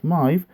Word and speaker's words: Smythe: It was ridden by Vic Smythe. I assume that's how you pronounce the surname. It's Smyth. It could be pronounced Smith or Smythe.